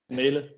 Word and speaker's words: Mæhle: So it's almost like the start of if you say mate, so you just go with a longer A, so it's May, and then Ellie Mæhle, if that makes sense.